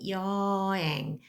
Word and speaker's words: 여행: You might have noticed I'm pronouncing 여행, not necessarily pronounce h right here because in the middle it almost does not pronounce, so you would pronounce it as 여행.